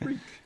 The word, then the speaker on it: Reek: rhymes with freak freak my name's rick it rhymes with freak um so that's funny